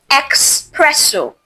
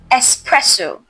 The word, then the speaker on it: espresso: It's not espresso. No, it's espresso. There is no X sound.